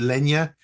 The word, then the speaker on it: Lena: So you said Lena, you pronounce it Lena.